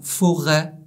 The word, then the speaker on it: forêt: Le E sans accent, il a un son fermé, comme dans le mot vendredi, dredi. Mais il sera ouvert dans forêt, être, fenêtre. Le O avec l'accent circonflexe